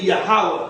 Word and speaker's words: Yahawah: And Yahawah is supposed to be Yahawah. Instead of the O, it's supposed to be an A. The E, that's the modern. The O and the E was added to the modern. The E is supposed to be an A, and then you have Wa, which would give you Yahawah.